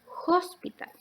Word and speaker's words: hospital: letra tiene dos palabras sin embargo cuál es la diferencia por ejemplo en la h la primera palabra si bien se escribe con h que en español la h no tiene el sonido aquí vendría a ser una jota por lo tanto esta palabra sería hospital sin embargo en la segunda